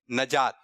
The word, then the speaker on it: نجات: نون کے نیچے زیر. چلو آپ. نجات. آپ نجات. کھڑے ہو کے. نجات. نجات. کچھ لوگ کہہ رہے ہیں نجات اور کچھ لوگ کہہ رہے ہیں صحیح تلفظ ہے نجات.